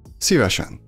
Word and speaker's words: szívesen: The most common way to reply would be szívesen. Szívesen. Szívesen. It's written with a long E sound, but everybody says it with a short E.